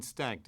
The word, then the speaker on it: stacked: stacked 뒤에 ed가 앞에 k이라는 요 성대가 울리지 않는 자음 뒤에서 t로 발음이 되고 소리가 이렇게 맞물리면 stacked in piles Stacked in piles.